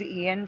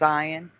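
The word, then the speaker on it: Ioan: did anyone else think his name was Ian for like the first couple years until they I heard them say his name and it was ion so weird ion jar yeah I thought I thought it was Ian because that's how you spell it Ian all right so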